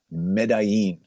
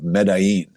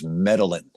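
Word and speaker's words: Medellín: And it was in a city in Colombia called Medí. That's the proper pronunciation of Medí.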